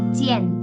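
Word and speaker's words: 见: Tulisannya J I A N. Bacanya bukan Jian atau cian ya. Seperti yang kita ketahui J kalau di Mandarin bacanya adalah C. Oke. Lalu vokal rangkap Ian bacanya bukan Ian tapi I kalau di Mandarin. Jadi J I a n kita baca sebagai oke bertemu menemui tau haien su cien ta.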